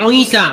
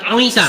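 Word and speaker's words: عيسى: Pakai Ain, berarti Isa, bukan Isa ya, tapi Isa, betul? Coba baca Isa pakai Ain, jangan pakai alif, coba.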